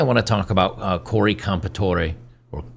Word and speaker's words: Comperatore: Today I want to talk about Cory Comperatore, or Comperatore, I guess he doesn't pronounce the E on the end.